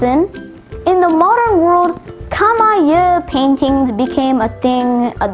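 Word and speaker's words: camaieu: word of the day is kamaya spelled c-a-m-a-i-e-u-x kamaya kamaya is a noun that derives from middle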